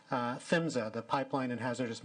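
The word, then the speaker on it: PHMSA: the acronym but then i'm going to say that it is fins of the pipeline and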